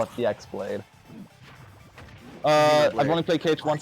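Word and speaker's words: χ-blade: that x that well it's the greek letter for x so there's the that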